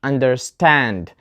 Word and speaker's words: understand: question number four and the answer is understand the stress is on the second part we have a compound word which contains two words under and stand so this is a verb and we put the stress on the second part for compound verbs understand not understand and the last question